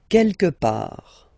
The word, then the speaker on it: quelque part: Quelque part, don't pronounce the final T, quelque part, quelque part, autre part, autre part, autre part.